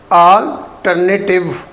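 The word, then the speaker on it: alternative: नेटिव की आवाज़ नहीं आएगी, नेटिव। ठीक है, ये है अल्टरनेटिव, अल्टरनेटिव, नेटिव नहीं, अल्टरनेटिव, टिव की साउंड।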